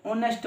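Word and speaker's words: honest: ऐसे ही एच भी क्या है, साइलेंट, तो इसको ऑनेस्ट बोलोगे तो ये ठीक है।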